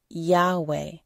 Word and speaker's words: Yahweh: the Christian Church affirm that the name was pronounced Yahweh many scholars believe that Yahweh derives from a